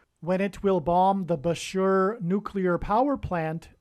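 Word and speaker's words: Bushehr: it will bomb the Bashur nuclear power plant and Bashur rhymes with Barker it is predicted that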